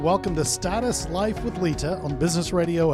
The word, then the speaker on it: Leta: let's just clarify something can you please say my name lita okay thank you for those of you listening how many times has he just said lita well it's not a silent r it's a leeter no you're usually a little